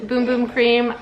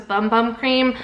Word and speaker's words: Bum Bum Cream: a little PSA that this is actually pronounced boom boom cream I also originally thought it was bum bum cream but you can see